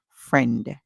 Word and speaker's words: friend: So, this word, friend, fr, remember the I is silent. Always remember it's there when spelling. Fr and friend.